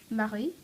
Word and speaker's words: Marie: somewhere in their names this is pretty easy pronounced except for the French R which is just an absolute disaster um basically what you do is put your the back of your tongue at the back of your throat and